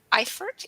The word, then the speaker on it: Eifert: know more about Eifert. Am I pronouncing it right? Yes. The E Eifert. is silent.